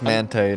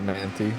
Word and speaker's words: Manthey: I think it's Mante, not Manti. It's Manthey now.